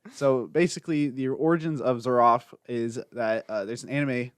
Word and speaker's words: Zeraph: long as you don't pronounce it with a V like that. There's one time someone pronounced it with a V. Zerav? No, Zeraph.